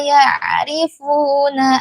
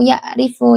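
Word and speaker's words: يعرفون: Jadi dibacanya innaka laminadimin alladzina aatainahumul kitaba ya'rifunahu kama ya'rifuna abnaahum. Dalam kata ya'rifu ini ain ya, Bunda ya, Umi. Jangan dibaca ya'rifu yaifu. Jangan dibaca seperti huruf hamzah tapi dibaca seperti huruf ain karena dia huruf ain.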